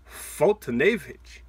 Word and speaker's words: Foltynewicz: luck so we're gonna start off with Mike foltynewicz that's how you say it Mike for today